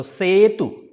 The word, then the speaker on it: Setu: So E will be pronounced as a sound, right? I already made the clear in the beginning. So it's a Setu and U is there. So U sound will not be longer. So Setu.